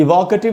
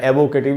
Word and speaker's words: evocative: इसको पढ़ना चाहिए दोस्तों इवोकेटिव, इसको इवोकेटिव या एवोकेटिव इस प्रकार से नहीं पढ़ना है।